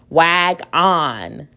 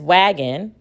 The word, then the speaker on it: wagon: So with the second syllable, if I were to tap it out, on, wag on. That sounds kind of silly. Like we know what this word is, wagging. It's not wag on.